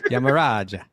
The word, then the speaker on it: Yamaraja: It's Yamaraja. Hey, Yamaraja, come on. Manjari, Yamaraj. We always say Yamaraj, but really the precise pronunciation, I suppose, right? It's Yamaraja. And he's instructing.